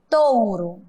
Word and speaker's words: touro: Olha aqui, o primeiro O tem som de O, mas o último tem som de U. Touro.